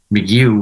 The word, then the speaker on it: McGough: And I thought, but I was able to, with the thanks to the internet, I was able to find McGough was the actual pronunciation, at least of my branch of that.